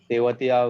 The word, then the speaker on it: Tewatia: He's मकसूद भाई बहुत Tewatia, not Trevatia.